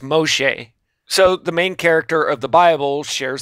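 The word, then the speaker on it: משה: which in Hebrew is just m o e pronounced Moshe so the main character of The Bible shares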